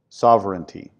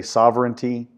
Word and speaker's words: sovereignty: first one is popular sovereignty kind of a weird word but it's three syllables you know there's so